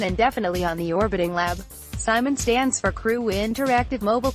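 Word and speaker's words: CIMON: off the dragon will deliver the robot Simon pronounced Simon slightly bigger than a basketball the round 3d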